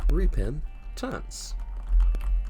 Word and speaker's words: Repentance: musical con man plays the binding of isaac repin tents it's pronounced that way now we're gonna do another